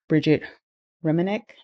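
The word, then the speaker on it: Brigette Romanek: stacks of book books I was inspired by Bridget ranc that's how you say her name she's a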